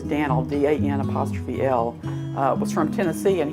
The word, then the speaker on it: Moody: Daniel Moody, and that's how you say it, is Dan'l, D-A-N''L, was from Tennessee, and he helped build the railroad, the IGN Railroad to Taylor.